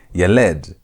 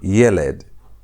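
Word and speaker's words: ילד: So, you're not going to emphasize the last part. You're not going to say yeled. You're going to say yeled.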